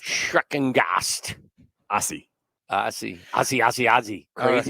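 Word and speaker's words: Schreckengost: Yeah, I believe it's pronounced Schreckengast. Schreckengast.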